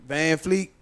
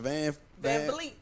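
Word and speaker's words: VanVleet: Because some of those, like Van Fleet, how you pronounce it? Van Vliet.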